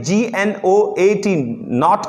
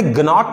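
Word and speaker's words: gnat: Consign नॉट की बात की है मैंने, GNOT नॉट की बात कर रहा हूं मैंने, ग्नॉट नहीं पढ़ा है इसको। इसका मतलब क्या है? यहां पर जी आपका साइलेंट रहेगा।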